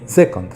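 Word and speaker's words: Joconde: যাই হোক, লুভে এসে জকন্দ উচ্চারণ করুন, তাহলে আপনাকে ফ্রেঞ্চ মনে হবে।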